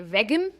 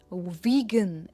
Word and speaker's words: vegan: वेगन. इसे कहेंगे वीगन, नॉट वेगन, इट इज वीगन. और वी पर इसका स्ट्रेस है, हम कहते हैं वीगन.